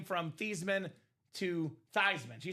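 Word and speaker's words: Theismann: So Joe Theman sold out for the Heisman Trophy, changed the pronunciation of his last name from Theman to Thyman so they can campaign Thyman for the Heisman.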